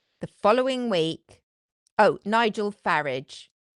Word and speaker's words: Farage: Oh, Nigel Farage. F A R A G E rhymes with garage. Not the way he says it, but the way I say it, it does.